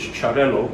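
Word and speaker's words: Xarel·lo: is made from and one of these is charello which is spelt x-a-r-e-l-o it's a catalan word and this one is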